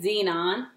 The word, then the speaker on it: xenon: okay a Z Z Z non symbol for it is X upper case X and lower case e it's pronounced Z non I wanted to do